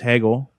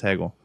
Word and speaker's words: Hegel: there's kids at home because his name is pronounced and uh is it's Hegel I checked with someone in the audience Nick they are they live in Germany they speak German they say it's Hegel and they also yeah I actually spoke to